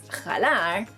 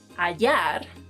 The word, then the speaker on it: hallar: Another verb is, if you're either thinking or you've been pronouncing this verb as jalar, that's wrong because the H is silent in Spanish, and if you pronounce it in this word, you'll be changing the meaning entirely.